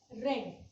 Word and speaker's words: read: रीड का third form होता है रेड. लिखते रीड है बट प्रोनाउंस होता है रेड.